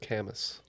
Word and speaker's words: Camus: Pronounced Camus. It's Camus. Albert. Thank you.